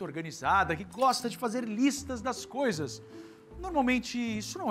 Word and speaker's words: lista: É um Lzinho aqui, bem na pontinha.